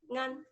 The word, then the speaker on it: Nan: But None. Nan, it is none. None.